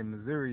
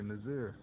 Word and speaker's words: Missouri: Like Missouri. Don't say Missouri, you say Missouri.